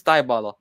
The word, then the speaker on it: Dybala: It's Dybala. Dybala. It's Dybala. That's how you say it.